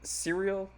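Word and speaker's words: Syril: Cyril. Cyril. Cereal. Cyril. Okay. So like cereal. I Like wonder- cereal. Is that a okay? Yeah, Cyril.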